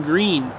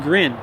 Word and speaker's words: grin: Shit-eating green. No, shit-eating grin, like to grin, to smile at somebody. It's like a partial smile. I didn't know that word. Green means smile? Grin, not green.